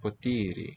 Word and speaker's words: ποτήρι: Que ένα potiri. And glass. Παρακαλώ, please. The plate. So it's piatto. And I think neutered to piatto. Το πιάτο. Το ποτήρι. Potiri. Long middle syllable.